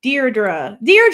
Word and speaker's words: Deirdre: We talked about Deirdre. Yes, that's how you say it. That sounds right.